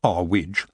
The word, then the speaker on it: Earwig: Earwig, pronounced our witch, got the news while